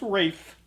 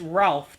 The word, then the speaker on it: Ralph: if he wants to if he wants to say it's pronounced Rafe that's fine but it's Ralph to every one of us so all right so